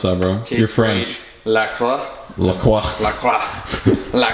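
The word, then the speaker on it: LaCroix: How do you pronounce that, bro? You're French. La croix.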